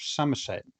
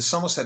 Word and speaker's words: Somerset: And I was doing a project in the county of Somerset.